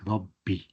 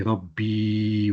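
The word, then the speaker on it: رَبِّ: Now that Rabbi, the way we spell it is Rabb, Ra and a Ba, tajdeed on top. And then we just put a kasra underneath it, Rabbi. We don't say Rabbi with a ya at the end.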